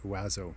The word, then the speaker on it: OAZO: the plum oazo bindings that's o-a-z-o pronounced wazo i'm pretty sure we've